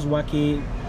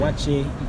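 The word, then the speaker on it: waakye: Okay, the first one that I like so much is wachi. Is it wachi or waki? I don't know how. Waki is usually pronounced waki by the Muslims in Ghana, and okay. Wachi by the non-Muslims.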